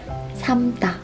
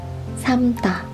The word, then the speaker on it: 삶다: In this case, we just pronounce this without l sound. 삶다. 삶다.